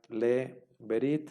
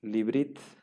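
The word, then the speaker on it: לִבְרִית: Entonces, podemos encontrarnos con esta palabra que ya no sería le berit, sino que se lee y se pronuncia librit, librit, ¿no?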